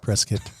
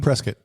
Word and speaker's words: Prescott: For those of you who don't know, there's a certain way that you say this name. Prescuit. But that's it's not spelled that way. It's spelled like Prescott.